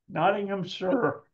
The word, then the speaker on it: Nottinghamshire: I can't even say it myself naam sure Nottingham sure okay sure like s in American English so